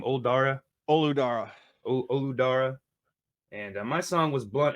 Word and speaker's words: Olu Dara: Olu Dara.